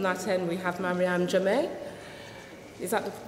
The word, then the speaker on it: Jamme: Starting from that end, we have Mariéme Jamme. Is that the correct pronunciation?